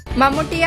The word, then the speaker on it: മമ്മൂട്ടി: മമ്മൂട്ടിയെ അഭിമുഖത്തിനായി ആസ്വാദകർക്ക് നേർപ്പ് ലഭിച്ചപ്പോൾ ചോദ്യങ്ങളുടെ പ്രവാഹമായിരുന്നു ഷാർജാ പുസ്തകോത്സവത്തിൽ പരിഷ്കാരത്തിന്റെ സൂപ്പർ സ്റ്റാറിന് നാടൻ പേരായി മമ്മൂട്ടി പ്രയാസം ഉണ്ടാക്കുന്നുണ്ടോ എന്ന ചോദ്യത്തിന് ഒരു വിഷമം ഇല്ലെന്നാണ് മമ്മൂട്ടിയുടെ